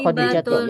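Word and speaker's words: خديجةُ: thatun wahidun nomor satuatu ini bacanya khadijatu ya karena termasuk nama perempuan arab yang tidak boleh menggunakan tanwin khadijatu thbatu khadijatu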